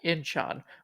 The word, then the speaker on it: Incheon: This was Korea at Incheon, which is near Seoul.